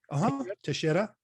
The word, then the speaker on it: Teixeira: this with Rodrigo Teixeira, am I pronouncing that right? Teixeira. Yep. Teixeira. Okay.